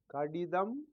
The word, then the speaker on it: கடிதம்: Kadidam. Kadidam. Kadidam. A letter. Letter in the sense correspondence. Remember the lesson on pronunciation. Ka, ti, ta, im. In combination, it will be read as kadidam.